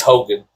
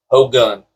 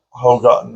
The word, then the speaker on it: Hogun: I knew I forgot to pronounce his name, but his name is in the first and second one. Yeah, he's Hogan. Hogun. Hogun.